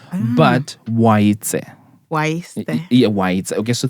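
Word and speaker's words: Oaitse: So the name is Waitse. Waite. Yeah, Waitse. So TSE at the end.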